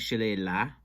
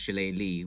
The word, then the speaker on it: Shillelagh: just have uh frank hall uh just going pronouncing the name of the town as chile la and then he says who's been making shillis